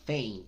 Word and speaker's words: faint: Cuando la combinas, en este caso faint, con la vocal I, entonces la A tiende a sonar como una E combinada con I. Faint, fey, ain't, faint.